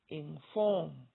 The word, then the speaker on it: inform: But when you listen to my pronunciation, you'll find that I say form stronger with more loudness than I say in. Listen: inform.